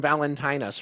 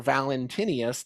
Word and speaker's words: Valentinus: Now this is from Valentinus or Valentinius, depending on how you want to pronounce his name.